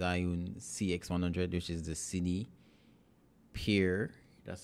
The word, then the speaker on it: CinePeer: this is the zione cx100 which is the cine Pier that's how they pronounce it that's how they pronounce it right